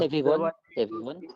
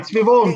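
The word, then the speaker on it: סביבון: So the Ashkenazi word is dreidel. This is from Yiddish. But Kuyas said it right in Hebrew. In Hebrew, it's svivon. Svivon, because it's something that's savavs. It goes around.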